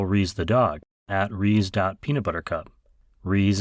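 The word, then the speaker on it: Rhys: Reese is spelled R-H-Y-S.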